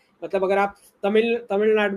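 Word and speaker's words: தமிழ்நாடு: अच्छा, तमिलनाडु पे बहुत फोकस है, तमिलनाडु एक्चुअली करेक्ट प्रोनाउंसिएशन है तमिलनाडु।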